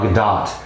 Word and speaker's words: Gadot: you know uh gal gadot whose name i feel did i mispronounce that in another film you have yes it's good it doesn't rhyme with the dough which i knew that